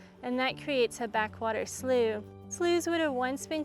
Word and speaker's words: slough: So slooh is a word that we have to kind of introduce people to. S L O U G H. So if you see the word written out, now you know how to say it.